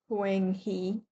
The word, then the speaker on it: Huanghe: Okay, Huanghe, not Huanghe. Okay, it is pronounced Huanghe.